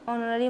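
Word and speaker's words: honorary: तो यहां पर देखिए एज जो है साइलेंट हो जाता है और हम होनोर नहीं नोरी पढ़ते हैं तो यहां पर ओ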